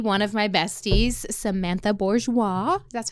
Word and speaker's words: Borgieous: beloved and bestie one of my besties Samantha Bourgeois that's how you say it right yeah Bourgeois um I always love to say her last